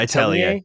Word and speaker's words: Atelier: Sorry for the late write-in, but I saw Matty's playing Atelier. Is that how you say it? Yeah, Atelier.